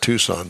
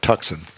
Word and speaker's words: Tucson: Hyundai tuxen oh boy I think they pronounced that Tucson but I like tuxen well it kind of